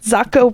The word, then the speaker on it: Zocco: barb barb zocco yeah she's like zocco rhymes with taco that's right i loved